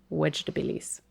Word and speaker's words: Vegetabilis: But the V in Latin is actually pronounced with a W sound. So it'd be Vegetabilis.